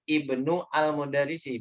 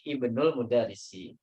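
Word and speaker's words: ابن المدرس: itu di tengah kata makanya ketika di tengah ya nggak mungkin dibaca di sini Ibnul ya bukan Ibnu Al mudarisi bacanya tapi Ibnul mudarsi tapi kalau seandainya kita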